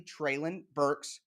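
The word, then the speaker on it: Treylon Burks: getting tray lon burke's treylin burks to say it correctly trailin burks you can't evaluate the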